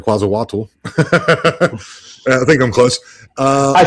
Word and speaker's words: Quetzalcoatl: I'm see if I hope I pronounce this right. Is it Quetzalcoatl? Is? Do you know who that is? Quetzalcoatl. Quetzalcoatl.